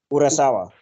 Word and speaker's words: Urasawa: Urasawa.